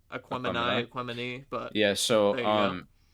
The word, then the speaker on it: Aquemini: So, I believe that's how it's Aquemini. pronounced. Aquemini.